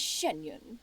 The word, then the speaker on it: Xianyun: From this point on, when in public occasions, be sure to refer to one as Shenyun. Yeah, Shenyun.